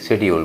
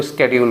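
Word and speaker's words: schedule: शेड्यूल आपका गलत है शेड्यूल एक्चुअली क्या होगा एस सी एच ई डी यू एल ई शेड्यूल होता है ना ठीक है अमेरिक उसको स्केड्यूल बोलते हैं तो शेड्यूल की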